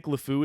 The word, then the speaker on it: LeFou: name of Gaston's sidekick lefou is pronounced just like the French words meaning the idiot the fool or the insane um just a couple